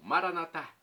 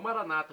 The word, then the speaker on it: Maranatá: E agora do aramaico, eu clamo, Maranatá, como dizemos nós católicos, ou Maranata, como dizem nossos irmãos separados. Não importa, a pronúncia, o significado é o mesmo.